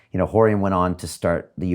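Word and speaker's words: Rorion: These guys that their names start with the letter R, but you pronounce it as if it's an H. An H. Horry went on to start the UFC, and it changed everything.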